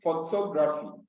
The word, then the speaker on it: photography: has been said that the third syllable from the last that is when you are counting from the end you count backwards the third one comes from the ends you count backwards the third one will give you the stressed syllable so you can see